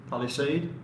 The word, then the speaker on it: Palisade: It's like lemonade, Palisade.